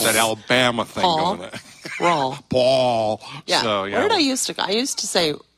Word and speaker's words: Rauel: You finally learned how to say it by remembering Paul, right? Correct. Rauel like Paul.